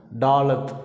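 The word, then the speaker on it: ד: இந்த எழுத்தை தான் டாலத் அப்படின்னு உச்சரிக்கிறோம்.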